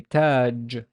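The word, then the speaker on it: تاج: to pronounce it, and we would find there's no vowel on the ta, but there's an alif, and there's a sukun here because it's a final word. I would say taj, taj, taj, just crown.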